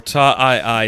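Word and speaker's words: Taa II: And the plan is kind of like, they need to go to Ta 2, which Ta 2, or Ta II is how it's said in the book.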